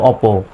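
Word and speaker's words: OPPO: পি ও অপো এরকম বলে কিন্তু এটার সঠিক উচ্চারণ হলো অপো এই পির উচ্চারণটা এই দুইটা পি মিলে একটাই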